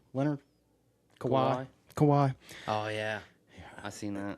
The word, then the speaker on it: Kawhi: And then Cowie, Leonard? Kawhi. Oh, yeah. I seen that. Remember how you like how I call him Cowie, don't you? Yeah, I can't pronounce his name. It's Kawhi.